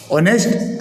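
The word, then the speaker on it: honest: नोक के साइलेंट है ऑनेस्ट ए साइलेंट है डेप्ट ब साइलेंट है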